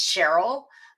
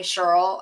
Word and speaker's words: Cheryl: So I'm a little peculiar about my, the pronunciation of my name. It's Cheryl. Some people call me Cheryl.